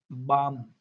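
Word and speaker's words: balm: L silent M से पहले। Okay, बाम, बाम। तो यहाँ क्या अपना एल साइलेंट है।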